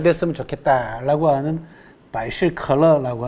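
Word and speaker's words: 百事可乐: 만 가지 모든 일이 다 즐겁게 잘 됐으면 좋겠다라고 하는 바이실컬러라고 하는 발음도 비슷하죠. 그죠? 펩시콜라.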